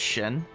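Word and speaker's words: Xin: It's it's spelled X I N but it's pronounced Shin.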